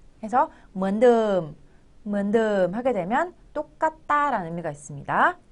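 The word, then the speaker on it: เหมือนเดิม: 먼드 글자가 좀 이상한데요. 이거는 드엄을 짧게 해준 거라고 보시면 돼요. 우리나라에 없는 모음이에요. 그래서 라고 발음해 주시는데요. 늠 해서 먼듬 하게 되면 똑같다라는 의미가 있습니다.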